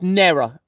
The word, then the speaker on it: Nera: It's Nera. It's almost the same spelling, but pronounced Nera. So this is H-E-R-A. Nera or Nera is N-E-R-A.